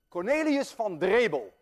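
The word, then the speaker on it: Cornelis van Drebbel: Cornelius van Drebel, and I know how to pronounce that name because I'm Dutch.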